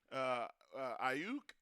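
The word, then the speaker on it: Aiyuk: So they found need in getting two receivers in Ayuk. Am I pronouncing?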